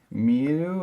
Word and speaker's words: 見: the verb to see meu it's pronounced me like you would say me to see okay I'll